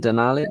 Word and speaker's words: Denali: the country at Denali or is that correct pronunciation Denali okay Denali in Alaska tallest mountain six thousand one hundred ninety eight meters in the u.s.